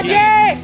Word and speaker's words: Keen: He's pretty keen. And That's Keen, right. of course, rhymes with green.